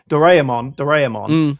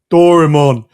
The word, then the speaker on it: Doraemon: The way once you get it, because we kind of like mishmash our vowels together, right? So it would be Doraemon, whereas they're very phonetic, right? Doraemon.